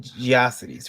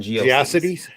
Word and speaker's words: GeoCities: i i i um i used to call it geocities rather than geocities i don't you know i haven't done rhymes with atrocities yeah that's what most